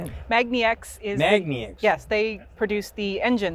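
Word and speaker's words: magniX: Magna X.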